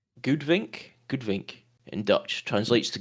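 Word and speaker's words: goudvink: That's pronounced Goodvink.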